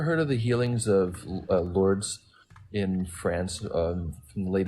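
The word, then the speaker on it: Lourdes: can look it up lord it's spelled l-o-u-r-d-e-s and one of the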